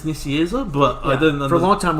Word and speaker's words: Nicieza: How do you pronounce that last name? Nicieza.